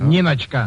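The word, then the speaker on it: Ninotchka: pronounced Ninochka or Ninochka, Mr. Ratoff? Ninochka.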